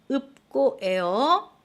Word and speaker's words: 읊고: 막다라고 발음해 주세요. 다시 읍고예요.